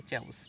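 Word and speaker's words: chaos: অবস্থা কোন এটা হবে না চ্যাওস এটা কিন্তু কেউস নয় উচ্চারণ হবে চ্যাওস চ্যাউস মানে হচ্ছে বিশৃঙ্খল ঠিক আছে তাহলে এটা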